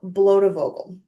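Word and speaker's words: Blotevogel: So once I realized that it was a Dutch word, I just pronounced it the way I would in in Dutch.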